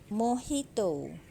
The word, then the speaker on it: Mojito: Ini nah ini singonium mohito tulisannya Mojito bacanya mohito singonium jadi dia eh merambat